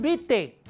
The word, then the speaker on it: vitae: cuando decimos currículum vitae se escribe vitae pero la a no suena no decimos currículum vitae Cómo se pronuncia currículum bite bite la a no